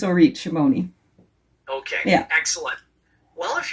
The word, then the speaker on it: Orit Shimoni: So yeah, in English, it's Orit Shimoni.